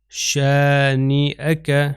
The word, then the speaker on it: شانئک: آپ دیکھیے اس کا تلفظ میں حمزہ کر رہا ہوں کیونکہ یہ حمزہ کے اوپر فتحہ ہے یعنی زبر ہے، تو اس کا تلفظ شانئک، میں یا نہیں تلفظ کروں گا.